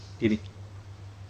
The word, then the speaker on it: جيم: Jadi makhraj huruf ja adalah tengah lidah mengenai langit-langit rongga mulut. Jadi tengah lidah, jum, tengah, jadi ja, ji, ju, ja, ji, ju.